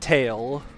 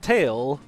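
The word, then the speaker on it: Tael: So, I was like, "Oh, their names are Tat and Tail or like Tal or whatever. I don't even remember how I mentally pronounced Tail's name."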